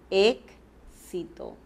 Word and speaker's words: éxito: Pero, ¿qué pronunciamos? Decimos éxito, ¿verdad? Estamos pronunciando a la vez dos consonantes.